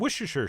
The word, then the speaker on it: Worcestershire: a couple teaspoons of Worcestershire sauce, which I've been told I could just pronounce Worcester sauce, which sounds a little too easy.